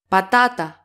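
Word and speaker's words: πατάτα: and discover the exceptions patata where's they put an accent patata but right second syllable from the last patata Porto Kylie Porto cally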